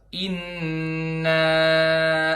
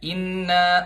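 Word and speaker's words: إنّا: cuman hinggap sebentar aja misal inep arsalna dibacanya Inna arsalna Inna arsalna di tahan lebih lama sedikit aja Inna urusan nah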